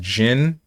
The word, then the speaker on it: Jean: It's pronounced Jin, but Jean is not popular.